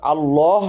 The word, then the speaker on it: الله: করতে হবে লাম লা তো আল্লাহ শব্দটির পূর্বে যদি পেশ থাকে বা জবর থাকে তখন আল্লাহ শব্দটি মোটা হয় তো আল্লাহ শব্দটির পূর্বে